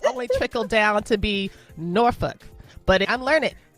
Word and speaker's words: Norfolk: And if you say Norfolk, the people who live there will laugh at you because that is not how you pronounce Norfolk. It's actually Norfolk. Norfolk is how you say it.